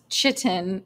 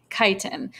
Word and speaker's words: chitin: It's not pronounced chitin, it's chitin.